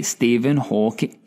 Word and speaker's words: Stephen Hawking: Actually, I should pronunciate it correctly, Stephen Hawking. Singular, not plural.